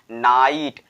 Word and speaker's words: night: हमारा लोप हो जाता है, वो भी हमारा साइलेंट ही हो जाता है। For example माइट, नाइट, टाइट, ठीक है।